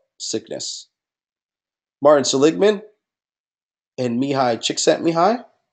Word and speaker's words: Csikszentmihalyi: Me, as in me, the person. And hi, as in you're saying hi to someone. Mihai Csikszentmihalyi.